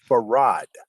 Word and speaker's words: Fard: his own name farad everyone who heard him pronounce his name say that he pronounced his name farad right farad well they've